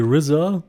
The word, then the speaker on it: Risar: have two riser ears in german it's actually rizzo but there's no german translation so it's it's ryzer i guess 230 grain steel that